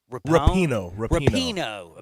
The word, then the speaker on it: Rapinoe: Rapinoe.